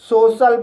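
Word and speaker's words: social: लेकिन guys suffix C आई एल में आई ए का उच्चारण नहीं होता है।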